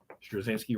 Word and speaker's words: Straczynski: Straczynski writing, Gary Frank on art.